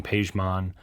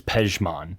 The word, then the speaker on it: Pajmon: So me being Pajmon, and how the name even growing up has kind of transformed into being pronounced the way it is. It's weird because like my parents, it's Pajmon, right? Pajmon, okay. And it's spelled different in Farsi too.